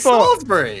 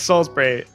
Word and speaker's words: Salisbury: Is it Salisbury? Apparently, it's Salisbury. Oh my God. I was getting roasted by my mates on this because we called it Salisbury.